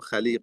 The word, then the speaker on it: Khaliq: for those who know Khalib or Alib um the some people they say alik um and obviously that is an incorrect pronunciation.